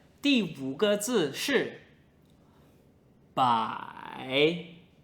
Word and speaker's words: 百: "bai2" Now fifth character is: "bai3" "bai3" Pronunciation is very similar , but it is third tone.